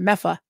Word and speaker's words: Medford: friend from Medford and they called it mefa they don't pronounce a lot of their consonant so it was mea I'm sure you don't say mefa yeah say Medford or Medford Medford mefa